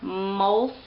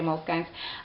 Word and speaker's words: Moleskine: These are Moleskine journals is the way that you actually pronounce them, but I like to call them Moleskines, so I'm going to say Moleskines.